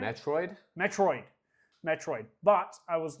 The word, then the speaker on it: Metroid: And the first game I got on there was Metro. Am I saying it right? Metroid? Metroid.